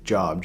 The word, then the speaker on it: Job: at city's pronounced job no it's job j-o-b job would be like j-o-b-e you know like earlobe or something i know how to